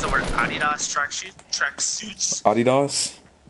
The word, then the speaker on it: Adidas: Adidas? That's how you say it. Fine. Adidas, you uncultured swine.